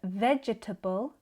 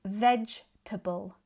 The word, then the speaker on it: vegetable: Instead of comfortable, I say comfortable. Instead of vegetable, I say vegetable because it's much quicker.